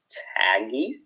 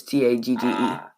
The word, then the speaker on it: Tagge: And because on General Taj, it's supposed to be an E. It's Tagge.